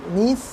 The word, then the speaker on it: niece: NIECE, হ্যাঁ, NI এর আগে যখন একটা ই হয়ে যায় তখন নিস হয়ে যায়, তখন আর কি ওটা